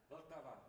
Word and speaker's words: Vltava: of nationalities here, so he can tell us how it's pronounced correctly. Radovan. Vltava.